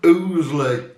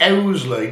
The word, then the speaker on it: Ouzeley: we went to the bells of ooley or Oley depends how you want to pronounce it so this Pub Mar